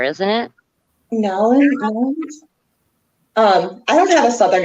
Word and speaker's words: New Orleans: Isn't it New Orleans? Like you don't really pronounce the R, isn't it? Nowlands?